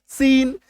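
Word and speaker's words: scene: जैसे एससी के बाद अगर ई आई वाई आ जाए तो उसके उच्चारण में दांत वाला सौ, सिंपल सौ आ जाएगा, है ना, यानी इसका उच्चारण क्या होगा, सिंपल वाला सौ।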